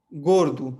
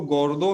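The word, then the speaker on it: gordo: हूँ आपको, जैसे कि गोरदू, है ना। अब इसको हम कैसे लिखते हैं, गे ओ एर दे ओ, है ना। लिखते तो हम इसको गोरदो हैं लेकिन पढ़ते हैं गोरदू।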